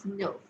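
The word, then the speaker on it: neuf: weat okay then nine I told you that e+ U is U and hence the pronunciation is Nerf Nerf now number 10 this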